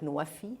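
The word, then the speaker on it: NWFE: energy and wfe and that is pronounced in Arabic nuafi and that means fulfilling pledges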